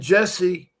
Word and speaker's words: Jesse: And Jesse, okay, not I.E. Jess. Okay, so it's pronounced Jesse, I guess.